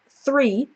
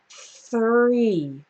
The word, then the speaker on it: three: have three so to make the three correctly I start with my tongue between my teeth and then my tongue just moves back into the r position three three when you're trying to